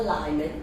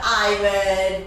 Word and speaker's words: Iman: It's not Lyman, it's Iman.